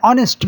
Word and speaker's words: honest: Here H is silent and he pronounced with O. An hour. An ear. An ear. Waris. An honest man.